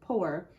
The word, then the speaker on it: poor: And this word, it doesn't, ow-er, it doesn't say that. It sounds like it's just P-O-R, p-o-er, poor.